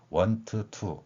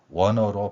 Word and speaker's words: want to: n 뒤에 t가 오면 생략이 되기 때문에 want to 이렇게 발음하는 것이 아니라 wanna로 발음되는 것입니다.